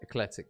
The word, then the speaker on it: Ekletyc: juicy can't wait for it viz am I pronouncing it correct is it ecletic yeah and Playstation don't need the money C